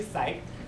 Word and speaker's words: Psych: A lot of people think his name is pronounced differently, but his name is actually Psych.